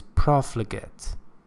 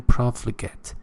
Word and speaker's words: profligate: the second word is profligate pay attention to my pronunciation profligate it's not gate it's get okay and profligate means